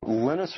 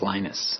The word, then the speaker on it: Linus: lenus tval came along lenus or Linus what's the exact your preferred pronunciation um when I speak Swedish it's lenus when I speak Finnish it's lenus when I speak English it's lonus and I really don't